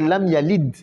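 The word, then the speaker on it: لم يلد: Mais Da fait partie des 5 lettres. Kutubu Jadin là, quand il y a Sukun, on dit de. On dit plus D.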